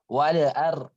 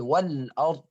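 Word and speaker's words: والأرض: potongan surah huruf hijaiyah, kita saat menjumpai sukun, kita itu bacanya kadang kita pantulkan padahal itu tidak qalqalah. Contoh seperti yang saya sebutkan sering alham, fadhkurullah, ada the-nya, ada alham, kemudian wala'ar, ada wala'ar, padahal wal-ard.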